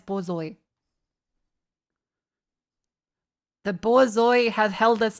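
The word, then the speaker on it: borzoi: Okay, it's boy. Okay, not bourgeoa. It's Bzoi.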